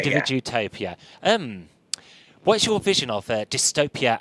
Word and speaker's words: Individutopia: It's called let's get this pronounced right. Individutopia. Individutopia. Individutopia.